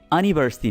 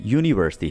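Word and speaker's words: university: इसी तरह से यूनिवर्सिटी है तो यूनी, ये अनिवर्सिटी नहीं है, यूनिवर्सिटी है, ठीक है, सो इसके पहले हम ए लगाते हैं, राइट, ये बात याद रखिए।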